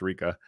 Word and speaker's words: Rieka: Before we get to that, though, I want to welcome also Makeup by Rieka, actually pronounced Rika.